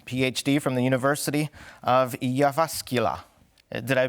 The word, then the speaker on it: Jyväskylä: sarento freas uh PhD from the University of yasul did I pronounce that correctly it's iasca good day good day yasa all right wonderful